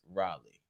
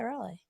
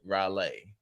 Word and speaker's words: Raleigh: to pronounce it R how do you pronounce it it's Raleigh that's what I said Raleigh no no no no you said rale like like like like